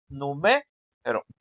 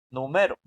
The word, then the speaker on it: numero: Pues que diga que la, o sea, que la sílaba más fuerte esté en la m. O sea, que diga numero, no número.